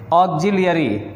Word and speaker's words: auxiliary: उच्चारण यहाँ पे फिर से ध्यान दें, ऑक्सिलियरी।